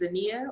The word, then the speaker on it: Zania: pronounced zinnia yeah right it's spelled the same way but it's pronounced zinnia my name is zania well it's a it's